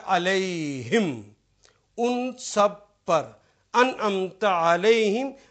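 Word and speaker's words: عليهم: जब दो नुक्ते लगाए तो ये प्रोनाउंसिएशन हो गया अलैहिम, उन सब पर।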